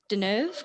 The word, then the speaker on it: Catherine Deneuve: I'm gonna mispronounce her name, and I'm sorry. I think it's Deneuve, Catherine Deneuve, because Catherine Deneuve. it is French.